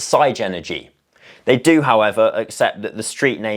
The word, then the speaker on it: Sigenergy: before we get into it it is technically pronounced sa energy I thought it was Sig energy until I had a three-hour meeting with them yesterday and turns out it's not it's side energy they do however accept that the street name